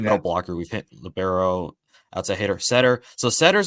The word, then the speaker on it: libero: Yeah, it's pronounced libero. I think Oh, you have libero. Okay. yeah. So you technically are correct, because I've heard like I think the NCAA has tried to make it libero as like a official pronunciation, but most people call it libero. Just it's Italian for defensive specialist, so that's where that comes in.